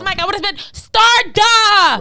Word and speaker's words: Starda: Starda. Okay. Starda like a star.